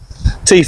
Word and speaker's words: Teef N Lure: Teef N Lure, but it's pronounced funny. Alright. It's like, if you're Yorkshire man, we're going to go like Teef, you know what I mean, how they say it. Oh yeah. Teef and then Lure.